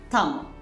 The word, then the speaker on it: tamo: So T in the cat is pronounced like this T.